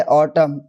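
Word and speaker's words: autumn: तो एन जो है ना जब किसी वर्ड के लास्ट में एम एन आता है तो एन साइलेंट होता है। जैसे ऑटम कॉलम डैम सोलम हिम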